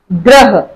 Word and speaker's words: ग्रह: ग्रह, ग के साथ है तो ग के साथ ही र का साउंड आ रहा है, तो ये इसको हम ऐसे प्रोनाउंसिएट करेंगे।